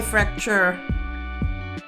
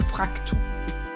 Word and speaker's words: Fraktur: I kind of like my fracture, my Fraktur fonts. Fracture font sounds kind of. I stick with Fraktur, the German pronunciation.